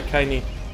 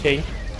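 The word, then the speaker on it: Kainé: So wie der Kaini ausgesprochen, nicht Kane.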